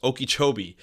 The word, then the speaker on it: Okeechobee: Now, a while ago, there is this lake called Lake Okeechobee. I always mispronounce it, but it's Okeechobee.